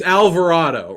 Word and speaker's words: Alvarado: jose avalardo's thing it's alvarado right that's how you say it alvarado i think i got to think of it as an actual person's name his name is al varado no i still can't